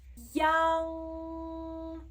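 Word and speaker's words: iang: I plus A plus N plus G, a lot of letters, right? It's pronounced as young, young, young.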